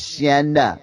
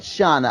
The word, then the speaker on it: Shanna: The correct way to say Shanna's name is Shanna, not Shauna.